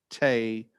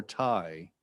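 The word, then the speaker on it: Thầy: affectionately affectionately known as spelled t-h-a-y pronounced tae or tai which is vietnamese for teacher and i will also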